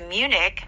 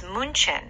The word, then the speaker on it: München: So my surprise when I went to Munich was that in Germany it was München. Yeah. But Americans say Munich.